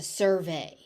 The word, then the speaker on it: survey: So the stress shifts in this word. So for a noun, it's a survey. As a verb, you survey. So keep in mind that you need to know how the word is being used in order to know where the stress goes.